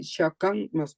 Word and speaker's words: chacun: Debe decir Shakan masculino singular.